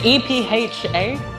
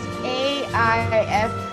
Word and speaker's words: Aoife: Like, is it EPHA? Like, It's AIFE. AIFE.